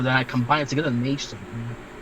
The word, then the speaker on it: magesoul: A lot of people, a lot of people don't know how to pronounce it. They call it magesoul. I don't know. But yeah, magesoul it is.